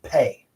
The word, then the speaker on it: phat: In Tibetan mantras, it's pronounced pay.